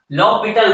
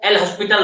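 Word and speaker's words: L'Hôpital: इसको आप अगर बोलचाल के भाषा में बोल दें फ्लो में, तो इसको एल हॉस्पिटल रूल बोल देते थे, एक्चुअली में date is लॉपिटल rule, एल silent हो जाता है, ठीक है, यहाँ पे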